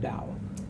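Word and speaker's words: Tao: the towel free and sometimes it's pronounced dao free of contrivance in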